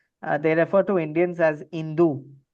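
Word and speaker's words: hindú: refer to Indians as Hindu. So the H is silent is basically Hindu right and that goes to the Hindu civilization.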